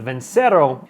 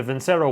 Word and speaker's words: Vincero: You did come here for the new, I'm gonna pronounce the company's name with a little bit of an accent. You gotta have a little flair to it, is the Vincero, V-I-N-C-E-R-O, Vincero watches, but they don't just have watches.